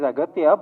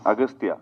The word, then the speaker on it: Aghathiyaa: It is Aghathiyaa, but in the film, your name is pronounced in different ways. Agastya. Yeah. Yeah. In both ways, it is pronounced. Yeah, it's Aghathiyaa and also Agastya.